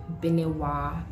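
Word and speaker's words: Benewaa: I personally like to spell it B-E-N-E-W-A-A instead of A-H. I don't know why, but I just prefer it that way because it's like the name is Benewa. So like if you spell it with A-H, it's like Benewa. Because the H you come Benewa.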